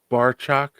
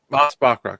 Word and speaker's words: Bachrach: Eben Moss Barchak. I don't know how to say his last name. Bachrach as the Moss Thing. Mm-hmm. Moss Bachrach.